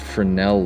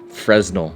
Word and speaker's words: Fresnel: TJ hunts channel and I said Fresnel because that's the way that it's spelled if you just start the beginning and go through you have people got all bitter